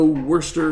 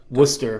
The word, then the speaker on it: Worcester: And we're coming from the Worester Centrum in Worester, Massachusetts. Worcester.